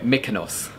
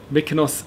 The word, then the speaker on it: Mykonos: Why did I pronounce it like an American way? Mykonos. Mykonos is a British way of pronouncing it. Mykonos, American. I don't know who I am sometimes.